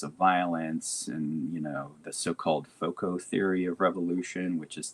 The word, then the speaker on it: FOCO: And VOCO is spelled VOCO? FOCO, FOCO. FOCO.